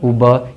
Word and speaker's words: Uber: 20 UBER, UBER इसको ऊबर नहीं पढ़ना, उबा।